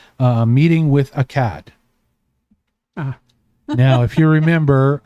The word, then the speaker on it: Akad: Ah now if you remember Akad that's a k a d in my mind ak a d is how it's spelled and akad is the name of the ruler of the city who okay he is the brother he's the older brother is not meeting a cat.